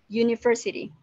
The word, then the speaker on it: university: University, kata pertamanya adalah U, yang mana adalah sebuah vowel. Tapi ketika diucapkan, U itu tidak terdengar seperti vowel, melainkan terdengar seperti U. Huruf kalau di Indonesia huruf Y ya, terdengar kayak Y.